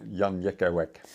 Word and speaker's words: Jan Jekielek: It's great to see you, Jan Jekielek. Oh, wonderful pronunciation.